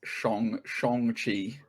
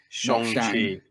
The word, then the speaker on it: Shang-Chi: you pronounce in this film, by the way? It's now correctly, isn't it? It's Shang-Chi. Shang-Chi.